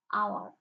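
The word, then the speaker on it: hour: যেমন আওয়ার, এইচ দিয়ে শুরু হয়েছে শব্দটি। এইচ একটি কনসোনেন্ট, কিন্তু তারপরেও এখানে এন হয়েছে, কারণ আওয়ার আ, আ হচ্ছে ভাওয়াল সাউন্ড। এখানে এইচ অনুচ্চারিত আছে, শুরু হয়েছে ও থেকে উচ্চারণটা, এই জন্য তার আগে এন বসেছে।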